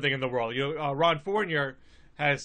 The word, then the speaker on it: Fournier: No, I know that you are not a Francophile and you hate the French, but I believe it's pronounced Fournier.